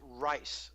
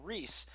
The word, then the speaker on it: Reiss: My father was born in Austria, and he was Reiss throughout his youth, and then when the Nazis threw him out in '38 and came to the United States, the United States couldn't figure out how to pronounce the I before E except after C, so he was called Reese.